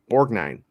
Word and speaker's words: Borgnine: Borgnine? Borgnine? Yeah. But, More than that. Yeah, Borgnine.